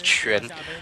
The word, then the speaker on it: Quan: It's Quan, which means it's not like Quan or like Quan or anything like that. It's Quan.